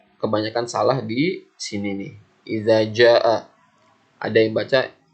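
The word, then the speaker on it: إذا جاء: Ada yang baca ijaja, ada yang baca izaza. Kalian harus bedakan mana za, mana ja, mana za. Nah, kalian seperti huruf dal ini cara pengucapannya lidahnya di ujung gigi. Za, za, iza. Nah, kalau ini pakai ja, biasa pakai huruf j, ja, jajan, bajai gitu, ja. Iza ja.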